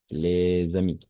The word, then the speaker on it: les amis: Ici, on va faire la liaison, d'accord? Les amis. Mais on ne prononce pas, on n'entend pas.